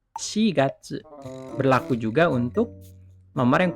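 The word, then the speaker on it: 四月: Jadi, kalau bulan keempat, April, bukan Yongatsu, bukan, tapi Shigatsu.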